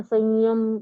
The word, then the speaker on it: संयम: तो संयम का उच्चारण न नहीं आता है। नासिका से आता है वो।